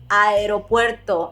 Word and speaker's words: aeropuerto: like this correctly and instead of saying ah aeropuerto just merge them together aeropuerto another example would be